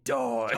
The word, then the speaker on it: die: I just 1, 2, 3, die. Like, it's funny because die, D-I-E, is also a word in German. It's just pronounced D.